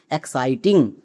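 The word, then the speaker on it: exciting: এবার একসঙ্গে উচ্চারণ করো। ই এক্স সি আই টি আই এনজি এক্সাইটিং।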